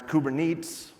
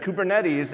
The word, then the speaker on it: Kubernetes: for orchestration with Kubernetes, which I was going to pronounce Kubernetes. And I checked, and they said Kubernetes, and I thought, you know what, I should have just pronounced it wrong.